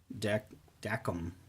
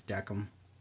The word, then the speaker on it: Dacom: part two of the deck deckum that's how you actually pronounce these deckham lancer 2 uh in-ear